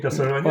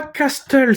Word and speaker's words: Castlevania: Oui Castlevania. Ah oui c'est beau ça. Oui oui oui oui. Castlevania et non pas Castle.